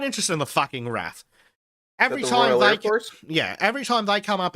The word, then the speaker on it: RAAF: In Australia, we have the RAAF, which we still pronounce RAF. Because have you ever met an Australian that uses more syllables than absolutely necessary? Or- RAAF, that's 3 syllables. RAF is like 1.5.